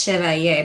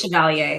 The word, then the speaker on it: Chevalier: If you're in France, Chevalier, but we just say Yes. Chevalier. It's very easy.